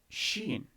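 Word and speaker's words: شين: c and so next we have sheen which is the s h sound sheen is she similar to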